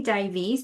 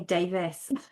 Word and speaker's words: Davies: I think it's supposed to be Davies, but I say Davis.